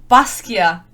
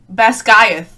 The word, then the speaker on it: Basgiath: And so the proper pronunciation, and I'm going to try my best, is, I wrote it here, Baskia is how you pronounce it. Baskia, and not Basgiath or Basgiath, whatever the fuck she said.